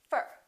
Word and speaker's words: for: what happens to four we reduce the oh and it becomes up fur repeat after me for